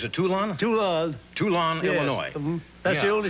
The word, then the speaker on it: Toulon: in Illinois well it could be did I pronounce the town right he's a tool on to us too long Illinois hmm that's the only city to United